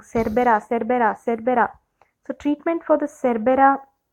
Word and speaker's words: Cerbera: Now how will you treat this person who has taken this seeds or their Cerebra thevetia? Cerbera. Oh my God, I keep saying it wrong. Cerbera.